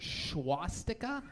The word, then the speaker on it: swastika: Swastika. There is no H in the beginning of that word.